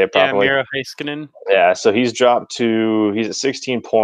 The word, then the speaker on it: Heiskanen: Yeah, Miro Heiskanen.